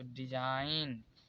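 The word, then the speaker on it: design: है देखिए यहां पर एन से पहले जी आया है तो डिजाइन यहां पर जी कॉमन है यहां पर डिजाइन यहां पर देखिए एन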